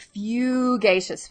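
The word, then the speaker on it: fugacious: is but it does it is pronounced phew geishas phew geishas okay and it means ever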